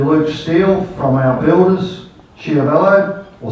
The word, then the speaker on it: Schiavello: Also, our thanks to Luke Steele from our builders, Schiavello, or Schiavello, as Di tells me it should be pronounced.